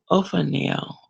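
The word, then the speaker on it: Ophaniel: of 0 for now i'm using the pronunciation right now Oh for now oh for now the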